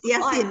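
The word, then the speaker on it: يس: Ya, ya-nya jangan terlalu panjang, ya, sin. Dua harokat saja. Ya, dua harokat atau satu ayunan.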